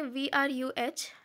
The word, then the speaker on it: oeuvre: Okay, सो इस OEUVRE उसको हम लोग प्रोनाउंस करेंगे VRUH। एक्चुअली मैंने गूगल से देखा है।